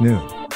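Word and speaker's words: Noone: Nun was already mentioned in these writings, and for the benefit of the listening audience and reading public again, Nun is definitely spelled N-O-O-N-E and pronounced Nun.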